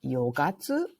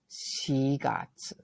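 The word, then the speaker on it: 四月: were to say April it's not yogatu or yongatsu it's she got she got write that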